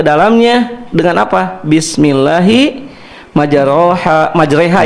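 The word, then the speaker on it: majrēhā: Majreha ya imalah ini dibacanya. Bismillahi dengan nama Allah.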